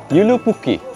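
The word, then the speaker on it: Joulupukki: এখানে দেখুন লেখা রয়েছে জে ও ইউ এল ইউ পি ইউ কে কে আই আসলে যে এর উচ্চারণটা ইউ এর মত হবে তার মানে ইউলুপুকি ইউপুকি হচ্ছে সান্টা ক্লজের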